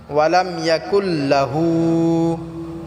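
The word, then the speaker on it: وَلَمْ يَكُنْ لَهُ: লাম ইয়ালিদ ওয়ালাম ইউলাদ ওয়ালাম ইয়াকুল্লাহু কুফুয়ান আহাদ ওয়ালাম ইয়াকুল্লাহু আমাদের অনেক ভাই আছে যে এখানে ওয়ালাম ইয়াকুল্লাহু লাটা টান করে এখানে লাটা টান হবে না ওয়ালাম ইয়াকুল্লাহু ওয়ালাম ইয়াকুল্লাহু কুফুয়ান আহাদ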